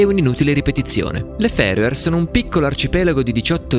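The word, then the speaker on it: Fær Øer: le isole ferie non si pronunciano farmer e nemmeno faro e ma appunto ferie e per inciso non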